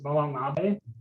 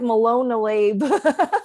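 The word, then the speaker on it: Molon Labe: So I don't know if Profitly, my username on Profitly is Molamabe. That's how you pronounce it? Here. Yeah, it's Molamabe. Oh, I was like Malone-a-Labe. Yeah, it's Molamabe. It's I actually got it from the movie 300.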